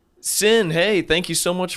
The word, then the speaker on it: Cyn: I did say Sin to everyone listening because that is your name, correct? That is spelled C-Y-N, not the S-I-N.